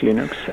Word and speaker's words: Linux: audio hello this is leon stormwells and i pronounce linux that's unique linus torval is calling linux linux